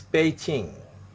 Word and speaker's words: Beijing: Beijing Finning of the Beijing is paging the pronunciation is Beijing Beijing B is po okay peaching now I